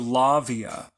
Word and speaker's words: Lauviah: So Lavia.